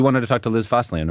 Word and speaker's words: Fosslien: Liz Fosian, right? Fosian. Yes. Fossilian is how you say it.